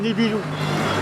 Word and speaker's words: Nibiru: Je ne sais pas si dans l'astronomie on cite le nom de la planète Nibiru. Enfin, on écrit Nibiru. Hein. Nous, dans Thaïsien, le U se prononce OU.